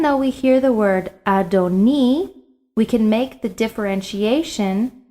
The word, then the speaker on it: adoni: heard is the word adoni you'll see this word twice in the text once in the second line and once in the third line now notice i did not pronounce it adonai adonai is the word